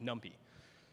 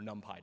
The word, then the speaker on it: NumPy: Like, what about other Python compiled dependencies, like NumPy or NumPy, depending on your pronunciation?